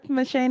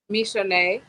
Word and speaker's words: Mishane: Hi, Chef Machine. How are you? Good. My name is actually pronounced. Wait, hold on 1 second. It's a delay. Can you say it one more time for me? Mishane.